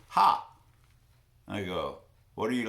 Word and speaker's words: Ha: It's spelled H-A, and she says, Ha.